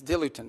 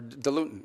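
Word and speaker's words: diluent: the things they need is dilutin or dilutin depending how you want to pronounce it.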